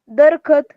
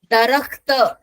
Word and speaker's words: दरख्त: दरख्त, दरख्त कहते हैं उसको, दरखत नहीं यस दरख्त। मैम। बताओ ना हाँ, उसकी देखो, दरख्त शब्द जो है ना वो उर्दू का शब्द है, तो उसका उच्चारण हमारे हिंदी और मराठी के शब्दों से अलग होगा।